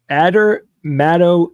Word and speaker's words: adermatoglyphia: Adermatoglyphia.